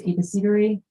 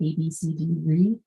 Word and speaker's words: abecedary: This is Ladies Abecedary. You can pronounce it by basically saying the first four letters of the alphabet, A, B, C, D, re.